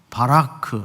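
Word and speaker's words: ברך: 오후 졸음도 쫓을 겸 한번 따라서 해볼까요 바라크 아 예 발음이 안 좋아요 어 히브리 사람들이 같아요 다시 한번 해볼까요 바라크 복 이란 뜻인데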